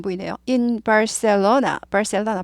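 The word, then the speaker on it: Barcelona: 안 보이네요 in barca 바셀로나 바르셀로나 바셀로나 그래서 바르셀로나 그럼 잘 못 알아들어요 영어 식으로 꼭 발음해야 돼요 바셀로나 바셀로나 아래 있으니까 부리죠 바셀 아니고 셀 이죠 바셀로나 바셀로나 바셀로나 바셀로나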